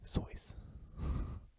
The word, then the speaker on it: Seuss: lipstick contains fish scales dr. Seuss pronounced his name sois slugs have four noses